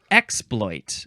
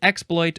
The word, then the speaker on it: exploit: The next word is exploit, and we are emphasizing the first. You know what? Either syllable is fine. Exploit or exploit.